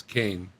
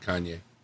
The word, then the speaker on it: Kane: Kane Friday's trying to help you pronounce his name, which is Kane, not Kanye.